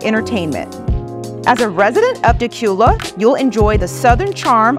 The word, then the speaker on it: Dacula: Well, this charming city has a one-of-a-kind name, and it's pronounced Dacula.